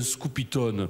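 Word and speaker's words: scopitone: le prononce à l'américaine elle le prononce à l' anglaise alors que on dit un scoopyon aussi bienouse qu'à Marseille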